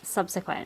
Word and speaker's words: subsequent: And he's like, you say subsequent. I'm like, oh, that's how you say it. And he's like, yeah, subsequent.